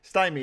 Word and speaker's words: stymie: What if I like it's pronounced Stamai. Stamai? That's not any better. Stymie.